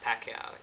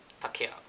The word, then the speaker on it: Pacquiao: Yes, that's how you pronounce it. It's not Pacquiao. It's really Pacquiao.